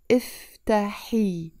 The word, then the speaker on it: افتحي: افتحي with the E sound in the end. And again, you notice I'm not saying افتحي الباب. I'm pronouncing it with a liaison.